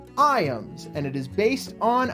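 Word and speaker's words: Ijams: Yes, it is spelled I Jams, which is how I've been pronouncing it in my head essentially this entire time. But no, it is actually called I ams and it is based on a nature center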